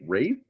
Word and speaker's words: Ralph: And back then, I called him Ralph Fiennes. I didn't know how to pronounce his name. Then I heard him say in an interview, like, "Oh, it's Rafe, really?"